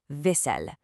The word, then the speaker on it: vaisselle: Look at the spelling there, double S, double L. It's pronounced vaisselle. It's a very soft, sweeping sound, kind of like literally wiping a plate clean. I'm going to pause and let the whole classroom practice this phrase together.